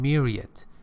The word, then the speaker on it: myriad: British pronunciation myriad, American pronunciation.